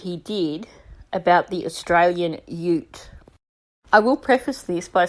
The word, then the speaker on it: Ute: say Ute for Americans if the U is on its own at the beginning like that or at the end like in emu it's pronounced you like you are an